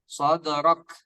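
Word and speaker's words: صدرك: Bukan huruf sin ya. Alam nashrah. Alam nashrah laka sadrak. Ulangi coba, afwan sekali lagi. Alam nashrah laka sadrak. Mumtaz, barakallahu fikum. Nah, pas ketika sadrak kan tadi mulutnya kita agak manyun ya. Nah, langsung ditarik sedikit karena itu huruf kaf ya. Maka kita baca sadrak.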